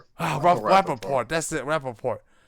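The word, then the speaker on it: Rapaport: Oh, Rapaort.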